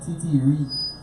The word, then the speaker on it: titiri: How you say it? TT fish cake. TT fish cake. So It's called TT Reed. TT Reed fish cake. TT Reed fish cake. Yes.